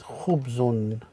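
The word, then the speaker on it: خبز: Next one is kha with the dhamma with khu, ba with the sukun is one, again Chris, one syllable, khub, and the za with the dhammatain is khubzun, which is bread.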